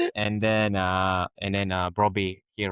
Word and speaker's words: Brobbey: striker Bobby. Brobbey, yeah, Brobbey Yeah. again, mispronouncing him again.